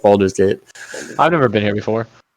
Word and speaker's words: Baldur's Gate: Oh, no, it's What? Baldur's Gate. Like a VO, like Boulder. I don't know. No, it's like Baldur's Gate.